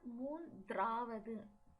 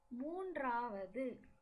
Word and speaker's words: மூன்றாவது: Third is மூன்றாவது. மூன்றாவது. Here it is not மூன்றாவது. The D is silent. மூன்றாவது.